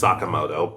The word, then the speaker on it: Sakamoto: Yeah, I know it's pronounced Sakamoto, but I'm so used to the dub and, well, I'm just stuck with it at this point.